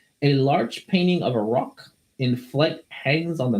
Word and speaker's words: roc: Not a rock. Not a rock, but A rock.